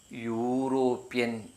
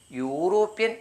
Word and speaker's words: European: യൂറോപ്യൻ. ഇങ്ങനെ വരുമ്പോൾ EUROPEAN യൂറോപ്യൻ എന്നാണ് വായിക്കുക.